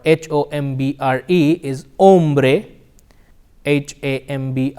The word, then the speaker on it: hombre: words which is Ola hombre and armory or these words starts with the letter H however the H is silent it is Ola hombre